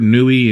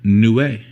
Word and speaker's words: Niue: And then, of course, the 2016 Niue. Yes, I am pronouncing that right. I looked it up. I see a lot of people that will murder that word, Nui and Niu, and you can.